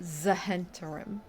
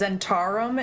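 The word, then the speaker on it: Zhentarim: So if Baldur's Gate has taught me anything, it is pronounced Zhentarrin. Zhentarrin. And I've been saying it wrong this whole time. Not this accent. It's not. Yeah. It's Zhentarrin for me. Yeah, I think Kara and I always heard it as Zentarum in our first campaign together too.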